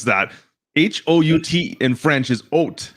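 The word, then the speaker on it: Haut: taking this back it's it's oat it's not ooh it's oat giants come on tell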